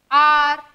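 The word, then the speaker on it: hour: हमारे यहाँ पर क्या है, H जो है वो साइलेंट है, H साइलेंट है, मतलब H से नेक्स्ट जो लेटर है हम उसके साउंड पढ़ेंगे। इसको हमने क्या पढ़ा, एयर पढ़ा, इसको ऑनेस्ट, ऑनर, आर।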